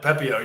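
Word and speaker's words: Pepiot: Pepio? I actually don't know. He's been pretty bad. You nailed it. Pepio, you got it.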